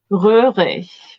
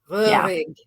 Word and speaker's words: Röhrig: Röhrig with an Ö. Röhrig.